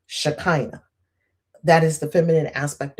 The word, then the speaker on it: Shekinah: In Judaism, I believe they pronounce it Shekinah. I've heard it in churches, Shekinah.